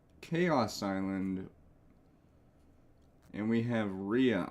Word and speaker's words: Rhea: Island and we have Ria Island which again I used to pronounce as Raya but it's uh anyway um